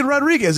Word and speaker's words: Rodriguez: You don't have to roll your R's. Just say Rodriguez.